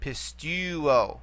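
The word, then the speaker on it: πιστεύω: Therefore, we only can go back 1 vowel from the nearest long vowel. Okay, or the pistuo, pistuo.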